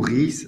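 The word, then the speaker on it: Houris: titrre un peu énigmatique ou ri ou ris ça dépend on peut prononcer les S fait référence aux ri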